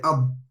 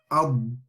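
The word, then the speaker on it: ض: So when you say, you don't want to say ad, the sound stops very quickly. But when you want to pronounce the Dad properly, you say ad. So you stay on the sound of the Dad, and it sort of slides up to the gums, ensuring that the al-istitala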